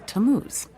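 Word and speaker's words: Tammuz: where do I find him his name is tamuz to what t a m m u z it's pronounced tamuz maybe if you show him your evidence he'll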